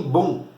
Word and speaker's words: Bonn: Já do lado dos capitalistas ali, na República Federal da Alemanha, a capital fica em Bonn. Acho que é assim que se pronuncia, é B-O-N-N, tá, o nome da cidade.